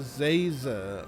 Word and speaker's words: Zaza: doing it on purpose it's professor zaza like laser with a z how hard is that